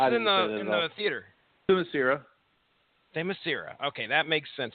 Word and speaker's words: Themyscira: Why do I keep putting an I after the R? It's not there, Ronnie Adams. It's Themyscira. Okay. Themyscira.